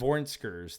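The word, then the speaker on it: vornskrs: Vornskers. They I would not have pronounced that.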